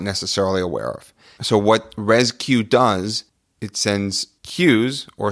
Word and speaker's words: RezCue: job hiding the emphasis and the spelling of rescue are easy C UE and what rescue is